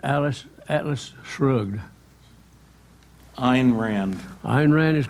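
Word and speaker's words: Ayn Rand: The Fountainhead and Alice Atlas Shrugged Ein Rand iron Rand is correct and you spell that Ayn Ein question four airs what is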